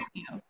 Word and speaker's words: Daimyo: Daimyo.